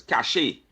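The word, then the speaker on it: cache: And the morning Lenox Snipes and they're just going to let Lenox know that the word is not pronounced cash. It's cashache.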